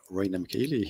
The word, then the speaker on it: Rainer Michaeli: first of all so my name rayna mckayla you actually pronounce my german name pretty well already yeah i'm a